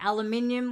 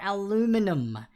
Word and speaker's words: aluminium: in the Earth's crust well that would be aluminium or aluminum anyway from a hey pronounce it but aluminum or aluminium for number